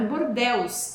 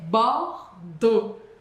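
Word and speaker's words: Bordeaux: E depois a gente tem bordo, não é bordelus, é bordo. Bord.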